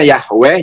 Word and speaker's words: Yahweh: jadi yahui yah Iwe nah lussade he Ini bacanya apa yah yg weh harusnya Yahweh jadi Yahweh saya nggak ngerti itu menulis nih